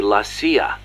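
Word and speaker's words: la CIA: around here they say lasya instead of CIA huh nothing strange about it that's how it's pronounced when you read it in Spanish it has the feminine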